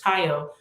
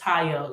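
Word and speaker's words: Tayo: i was constantly telling it's two letters taiyo you know not two letters it's two syllables just taiyo it's nothing really hard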